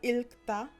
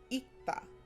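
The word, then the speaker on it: 읽다: So for example, this word is not ilkta, it's ikta.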